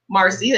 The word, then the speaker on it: Marci: like oh what's you how do you say your name and I tell them Marcia a is silent and nobody ever questioned